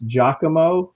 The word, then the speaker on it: Giacomo: Giacomo. That's the way Nolan told me to pronounce it.